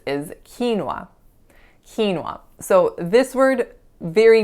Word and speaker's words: quinoa: So it's not quinoa, it's just 2 syllables, quinoa, quinoa.